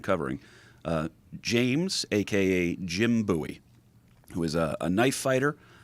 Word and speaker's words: Bowie: with that one here then so um jim bowie is how it's pronounced but it looks like bowie uh the